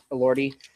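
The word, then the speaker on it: Elordi: Ori.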